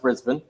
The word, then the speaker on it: Brisbane: right and you're the reason I know it's pronounced Brisbane yes what are you buy anything is any about Americans watching risa by st.